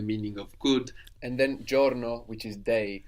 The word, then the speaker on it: giorno: And then giorno, which is day, spelled Giorno. So sometimes the I in Italian won't be heard that clearly.